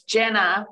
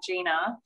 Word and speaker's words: Jenna: you on my name it's jenna not gina hey i got a